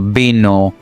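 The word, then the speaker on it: vino: But in Spanish both sound as b as in boy. For example, bino or balencia.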